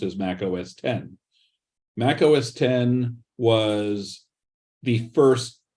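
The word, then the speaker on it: Mac OS X: approximately 2001 that was released as Mac OS 10 with an X after it instead but pronounced as Mac OS 10.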